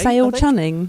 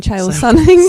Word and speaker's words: Chael Sonnen: Sale Chunning? You mean Chael Sonnen?